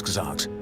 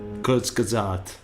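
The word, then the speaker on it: Kurzgesagt: detmer the founder and head writer of quartz kazakhs kurzgazat that's how you pronounce that i'm sorry i'm sorry but yeah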